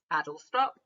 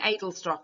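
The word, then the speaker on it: Adlestrop: nice one easy one adult stop which I was calling idle stop and then I realized I was saying it wrong so we've got four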